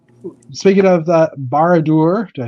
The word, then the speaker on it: Barad-dûr: Speaking of the Barad-dûr, did I say it right that time?